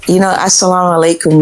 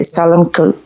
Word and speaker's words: assalamu alaikum: So, assalamu alaikum means peace upon you, right? You know what? When you say it fast, you mispronounce it and say salamku. That means go to hell.